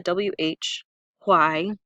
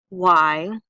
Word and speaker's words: why: though why okay so you can try to make the sound the WH Y which technically would probably be more accurate but we usually ah don't breath that H sound so why WH why there are